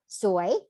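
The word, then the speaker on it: สวย: So if you don't say it carefully, it might mean different things, like the word suay, that means pretty or beautiful, but suay means bad luck.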